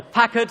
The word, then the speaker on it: Packard: elegant pre-war 12 cylinder Packard or Packard as we should be pronouncing it considered by many enthusiasts